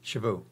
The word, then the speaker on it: cheveux: come up with that because that means hair in French but a lot of people said cheveux which means force so if if they said it wrong they weren't saying hair they were saying horse yeah maybe that's why